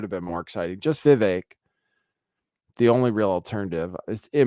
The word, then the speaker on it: Vivek: Most people still say Vivek, but it is Vivek apparently.